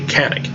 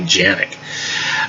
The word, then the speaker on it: Canik: the c that way it's a little bit more of a j sound so it's more like janic at least as i